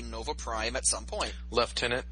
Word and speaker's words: lieutenant: Prime at some point left tenant really that that is the proper pronunciation yes and how is